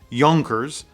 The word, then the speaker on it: Junkers: all of them have junkers on the dial it's actually pronounced yonkers which is not very apparent to a person that's in the united states now i say that